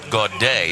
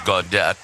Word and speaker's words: Gaudet: i may have um inadvertently called dylan gaudet god day it is gaudette so i my apology